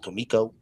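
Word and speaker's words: Comico: And yes, ladies and gentlemen, it is pronounced Kiko.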